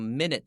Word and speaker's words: minute: Minute adjustment, minute 它看起来像 minute 一样，但它念成 minute，这个 newt 那个部分呢是长音的 u，好 minute 是微小的， minute adjustment 指的是微小的调整。